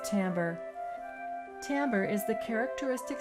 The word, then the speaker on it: timbre: is an interesting word it looks like the word Timber but it's pronounced Timbre Timbre is the characteristic